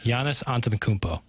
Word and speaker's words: Giannis Antetokounmpo: 10 Sports Center update for being able to pronounce Giannis' name perfectly. Thank you. A lot of practice. Say it for us. Giannis Antetokounmpo.